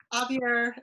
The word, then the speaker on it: Xavier: At Xavier. How do you say your university? I want to say Xavier because I'm from the Southwest, but it's Xavier University, and he is a